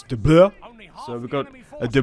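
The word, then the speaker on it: Blois: It's not De Bolus. You guys were having a laugh. I've never heard it pronounced out loud in ages. But yeah, it's De Bleu.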